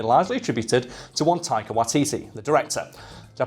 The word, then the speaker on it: Waititi: fact like me largely attributed to one tiger watiti the director did you pronounce that correctly you did yeah thank you